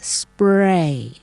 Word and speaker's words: spray: ครู นิด นะ คะ เพราะ เหตุ ว่า มัน มี S มา นำ หน้า ตัว P นะ คะ ก็ เลย กลาย เป็น perspective ทั้ง นี้ ทั้ง นั้น เนี่ย เอ่อ S กับ P เนี่ย นะ ฮะ ก็ ต้อง เป็น ตัว ที่ ปรากฏ อยู่ ใน พยางค์ เดียว กัน นะ คะ เช่น เรา มี คำ ว่า อ่อ pray และ เรา ก็ จะ มี คำ ว่า spray นะ คะ เรา มี